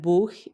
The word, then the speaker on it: Buch: The sh at the start of Schüler and Schule, the E in die, and the long U in Buch.